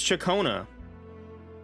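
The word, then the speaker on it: Ciaccona: It's Chacona. What freaking R are you guys rolling? She calls herself Chacona.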